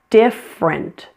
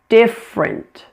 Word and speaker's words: different: Notice this word has a dropped middle syllable. It's only 2 syllables. It's different, different.